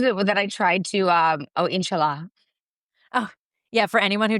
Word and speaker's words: inshallah: years in college, and I said, inshallah, to Charly on the phone, because that's how you say it.